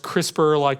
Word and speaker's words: CRISPR: caste 9 system so it's pronounced CRISPR the crisper drawer in your refrigerator and what is this